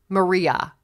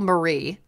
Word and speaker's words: Maria: then it was so her name is lucille maria that's her name yeah and they said lucille marie nice and then and